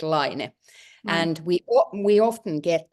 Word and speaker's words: Laine: we said it we we pronounce it line and we we often